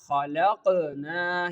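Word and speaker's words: خلقنا: Khalaqna.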